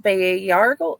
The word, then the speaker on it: Bayargle: Tell us about Bayargle. I am, however you pronounce his name, and his interesting powers of sucking the life force out of people. You're very close. So Bayargle is how I pronounce it.